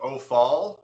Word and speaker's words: Ophiel: Is that Ophiel, that angel of Ophiel? Well, I pronounce it Ophal. It's Opfaal is how you spell the name.